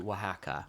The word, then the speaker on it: Oaxaca: Okay, I was in Mexico City, but for Day of the Dead, I went to Wahaca. Now, we're already veering off. For UK listeners, Wahaca is spelt Oaxaca.